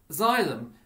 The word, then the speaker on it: xylem: that i've just showed you xylim and p-h-l-o-e-m xylem transports which is that's how it's pronounced transports water from the root from the